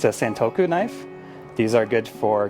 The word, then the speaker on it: santoku: this is a stink santo i can never pronounce this correctly it's a santoku knife these are good for cutting vegetables they